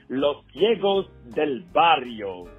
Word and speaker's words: Los Ciegos del Barrio: leader of a fantastic band that is called losos Del bario did you see how pronounced it right losio and you're going to